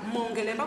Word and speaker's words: Mongelemba: Mongelemba, vous savez, c'est les consonnes et les voyelles. Donc, ça se prononce comme c'est écrit. Hein? Voilà. Donc, on va dire Mongelemba tous.